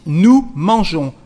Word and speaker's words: nous mangeons: There is an S, but you don't pronounce it. Nous mangeons.